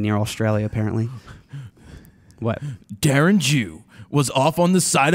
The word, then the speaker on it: Jew: No, spell it. It's Jew.